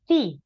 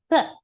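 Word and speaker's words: 四: Kemudian te se bukan si tapi se ya see.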